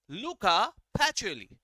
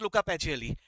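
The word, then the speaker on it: Luca Pacioli: अब प्रोनाउंस सही तरह से करना, ज्यादा अंग्रेजी स्टाइल में मत करना, नहीं तो पता चला बोलने लगा लूका पैचियोली, वैसा मत बोलना यार, प्रोनाउंसिएशन से कुछ अलग मीनिंग निकल आता है, ऐसा मत बोलना, लूका पैचियोली, ठीक है।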